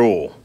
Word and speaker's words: oil: This is motor oil. Ain't no oil. I don't see where people get that Y in there. There ain't no Y in the word.